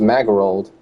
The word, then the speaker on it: Magerold: Magerold with an M, mage, like mage rolled, but it's pronounced Magerold.